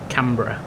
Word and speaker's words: Canberra: to go until cber is that actually how you pronounce it cbera cber or is it or is it is it not cbera no Cur Cur like Edinburgh yeah yeah Edinburgh is